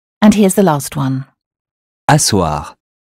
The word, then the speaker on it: asseoir: Asseoir. Asseoir with two S as in sassy.